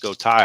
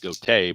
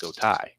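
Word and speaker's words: Gotay: If I didn't know it's pronounced Gota Thai, I would have said goatee, but obviously it is pronounced goai, but rhyming with bow tie.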